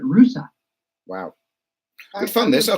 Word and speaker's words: Russia: Town in Ohio that is named Rusa, which is spelled the same as Russia, but they pronounce it Rusa.